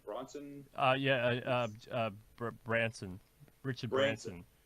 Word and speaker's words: Branson: Similar to the idea that, is it the Virgin guy, Bronson? How do you pronounce his last name? Bronson? Branson.